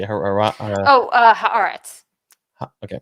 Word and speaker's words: Haaretz: I cannot pronounce this publication. How do you say it? Oh, Haaretz.